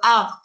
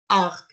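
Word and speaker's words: harpe: So they have a French word, has an E on, and they don't pronounce the H. They go arc, arc.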